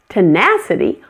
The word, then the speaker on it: tenacity: Tenacity also has two weak syllables, the first and the last.